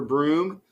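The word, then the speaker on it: Bruttenholm: from Europe named Trevor Broom, and his last name is not spelled like Broom, but that's how they pronounce it.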